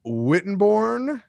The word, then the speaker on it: Wittenborn: Today, I am here with Dave Wittenborn. Did I pronounce that correctly, Dave?